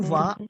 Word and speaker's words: vas: tu vas. देखो यहाँ पे what we are doing over here, we are not pronounce S because S would be silent.